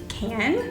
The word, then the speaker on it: Cans: So a dupe for that is the NYX Soft Matte Lip Cream in Cans, but it's pronounced can.